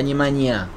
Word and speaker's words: Nemanja: tiene rojo, en Matic, ahí está Nemanja, se llama así, ¿no? Sí, sí, lo dijiste bárbaro. Perfecto, gracias, porque la J en ese idioma balcánico se pronuncia como I.